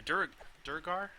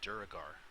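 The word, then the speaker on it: Duergar: The Durgar? I always pronounce it Duragar, but that's not right.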